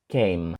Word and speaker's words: came: це важливо тому що там в кінці стоїть літера і яка взагалі ніяк не вимовляється просто ніби її там немає Came І це ще не